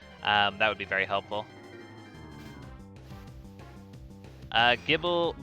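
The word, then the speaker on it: Gible: Gibble, but the G is pronounced like it is in GIF.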